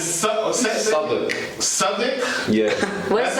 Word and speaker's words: Southwark: It's Southwark. Southwark? Yeah. Where's That's how that? you pronounce that.